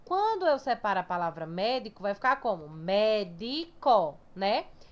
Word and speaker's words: médico: Quando eu separo a palavra médico, vai ficar como médico, né? Então, ó, a palavra mais forte é mé, certo? Então, isso aqui é a sílaba tônica da palavra médico, é mé.